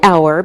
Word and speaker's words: hour: look at some examples we say an hour because we don't pronounce the H so it sounds like a vowel sound same with an honest